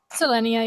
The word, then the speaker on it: Selenia: Am I saying it right? Selenia, yeah.